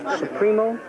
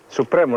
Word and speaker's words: Supremo: and then came back supro supro Supremo not supro Supremo Supremo okay good club let's see s hit a five must be a three huh so there we are the pronunciation is Supremo let's start with the